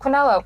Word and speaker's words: quinoa: I mean, it's pronounced quinoa.